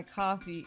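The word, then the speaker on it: Ko-fi: don't know what my coffee my Kofi how do you pronounce it? Coffee.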